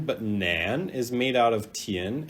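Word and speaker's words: 男: So this character is pronounced nu, and this character nu, and this character is pronounced nan, nan, nu.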